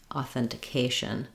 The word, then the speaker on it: authentication: authentication again you can start on the stress syllable cation authentication um so that your mind hears that Rhythm